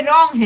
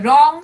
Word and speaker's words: wrong: erasing the wrong sentences बेटा ये रॉन्ग है. ओके, W साइलेंट है. रॉन्ग sentence.